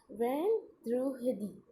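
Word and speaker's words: vendredi: Okay, और जब अपन इसकी प्रोनाउंसिएशन करते हैं फ्रेंच में उसे कहते हैं वेंद्रुहदी. ओके, आप इस प्रोनाउंसिएशन को बड़ा मत समझिए, आप इसे शॉर्ट में याद करेंगे तो आपको याद हो जाएगी वेंद्रुहदी.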